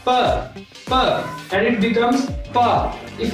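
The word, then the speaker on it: 爸: How to pronounce pa? In Chinese, B is pronounced as pa, and it becomes pa.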